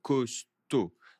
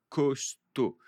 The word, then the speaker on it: costaud: Donc un système immunitaire plus costaud. Costaud, c'est être fort. Plus costaud, plus fort, plus solide. Attention, je ne prononce pas le D.